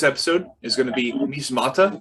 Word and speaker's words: Measmata: So this episode is going to be Measmata, right? Is that how you pronounce it?